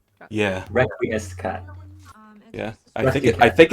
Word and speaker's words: Requiescat: Requescacot, is that how you say it? Requiem Scott? It's yeah. Requiescat.